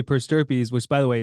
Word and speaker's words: per stirpes: So a strategy to do that, and what it's called is per stirpes.